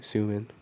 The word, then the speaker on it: Soomin: no, I actually, when I was in America, I just went by SOOMIN. Wow, I love that. 'Cause it's easy to pronounce too.